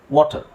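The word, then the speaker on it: water: ಹೌದೋ ಅಲ್ವಾ ಸೋ ಬಟ್ ಇಲ್ಲಿ actually ಇದನ್ನ ನಾವು ಆ ಅಂತ ಹೇಳಂಗಿಲ್ಲ ವಾಟರ್ ಅಂತ ಹೇಳಂಗಿಲ್ಲ ವಾಟರ್ ವಾಟರ್ ವಾಟರ್ ಅದು ಅಷ್ಟು ಸರಿಯಾದ ಉಚ್ಚಾರಣೆ ಇದು ವಾಟರ್ ಅಂದ್ರೆ ನೀವು ಅ ಅಂತಾನೆ ತಗೊಳ್ಳಿ ಸ್ವಲ್ಪ ವಾಟರ್ ವಾಟರ್ ವಾಟರ್ ಅಲ್ಲಿ ನಿಮಗೆ ಅ ಸೌಂಡ್ ಕೇಳುತ್ತೆ ಆ ಸೌಂಡ್ ಕೇಳಲ್ಲ ಅ ಸೌಂಡ್ ಕೇಳುತ್ತೆ ವಾಟರ್ ವಾಟರ್ ಓಕೆ ಸೊ ಇಲ್ಲಿ ನಿಮಗೆ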